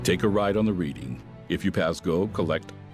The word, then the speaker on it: Reading: Take a ride on the reading.